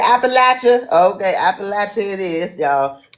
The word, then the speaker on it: Appalachia: Appalachian. It's that's how you pronounce it. Yep. Appalachia. Yep. It's Appalachia now. It's Appalachia. You said Appalachia.